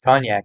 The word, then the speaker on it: konjac: Because actually, amorphophallus cognac is a common food plant over in Asia. If you ever see it's spelled Konjac. So you ever see like cognac noodles, or some people